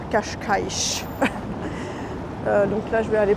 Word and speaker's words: Cascais: Et j'hésite avec Cashkaï qui s'écrit Cascaï. C'est J'y vais en bus aussi. Donc je pense que je vais aller à Cashkaich.